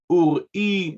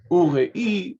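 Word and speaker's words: אוּרִי: Another very minute detail is him pronouncing the sheva under the letter resh as a moving sheva, while it is a silent sheva. So ur-i, not ure-i, but as I said, very minute.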